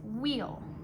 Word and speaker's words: we'll: It doesn't say well if there's an apostrophe up here. We have to pronounce it wheel. If it doesn't have an apostrophe, it just says well, so make sure you're careful with that.